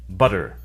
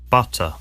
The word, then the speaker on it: butter: like an R sound so in the US people say butter in the UK they say butter in the u.s.